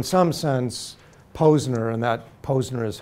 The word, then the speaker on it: Posner: thought so in some sense Posner and that Posner is how his last name is pronounced is is just an emblem for a